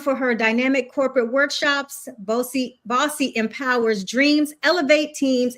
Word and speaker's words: Bose: So, our guest today is Bossy, spelled b o s e, but it's pronounced Bossy who is the joy amplifier.